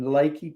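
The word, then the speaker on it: Leakey: Uh we got to our destination in Lakey, Texas. It's like southwest Texas, still in the Hill Country. It's spelled like leaky, like a leaky faucet. Uh, L E K E Y instead of just Y.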